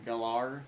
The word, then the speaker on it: Gellar: I mean, Sarah Michelle Gellar, or Gellar, that's what she wants to pronounce her name now.